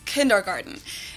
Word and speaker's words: Kindergarten: of the most known ones and that is kindergarten in German we pronounce it kindergarten kindergarten kindergarten kindergarten kindergarten kindergarten